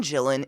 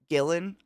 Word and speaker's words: Gillan: yeah he's hilarious Karen gyllen in jamanji is just or is it gyllen Gillan it's Gillan did I just say